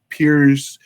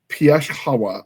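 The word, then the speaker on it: Pierzchała: Well, in Poland, it's got a little thing on that L, and it's not pronounced L, it's pronounced W. So I went from Williams to Pierzchala.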